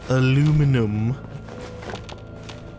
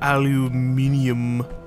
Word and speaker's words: aluminum: Gives me an opportunity to get more aluminum. Or aluminium. It's spelled aluminum in this game, so we're just gonna say that.